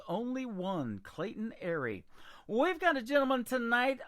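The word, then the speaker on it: Aery: His name is Clayton Airy, and his last name is spelled A-E-R-Y.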